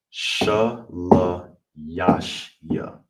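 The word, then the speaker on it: שלישי: All together sha la ya shia.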